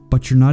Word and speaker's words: and: But you're not even trying to help. Another common example of sound linking comes from and. In speaking, and is almost always pronounced as n.